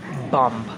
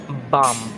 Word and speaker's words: bomb: is silent me indy usually this letter will be a silent letter at the end of the word after the letter m like bomb bomb r or b for